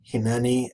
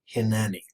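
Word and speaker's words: הִנְנִי: I am, pronominal suffix, they give you two forms, hineni and hineni, both pronounced basically the same, but you should note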